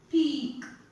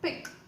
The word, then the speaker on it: peak: Please don't mistake it as pick. It's peak. When two dots are coming, you should give more elongation to the sound, okay? You have to give more syllabification also, like peak.